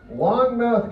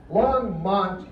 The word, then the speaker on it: Longmont: Longmouth, Colorado. Did I say that wrong? No, I said it right. Longmouth, Colorado. Longmouse, I'm sorry. Longmouse, Colorado. Okay? Longmont, Colorado.